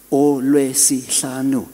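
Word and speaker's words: uLwesihlanu: I said, "Because it's a Olwesihlanu. It's 5 syllables.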